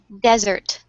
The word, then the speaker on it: desert: is the stress is in the first syllable. On the other hand, dessert is in the second syllable.